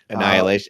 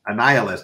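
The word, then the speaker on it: Annihilus: Ryder as they fight an I could never pronounce this guy's name so the bad guy Annihilation annihilist annihilist thank you so the Nova series will follow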